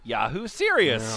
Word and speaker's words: Yahoo Serious: He asked me what I would call our child, and I said, Yahoo Serious. Oh, Serious God. rhymes with Prince's song, Delirious. And this is where the Australian actor-comedian Greg Pede's stage name came from.